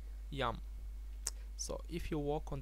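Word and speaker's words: ים: doesn't like the sea the sea in Hebrew is called yum very simple yum say it after me yum so if you walk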